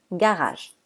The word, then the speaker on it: garage: suivi d'un e et se prononce G on prononce garage parlons maintenant des lettres qu'on ne doit pas